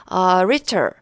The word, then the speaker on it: rhetor: rhetor 여기서 H가 이제 묵음입니다. 발음이 되지 않고요.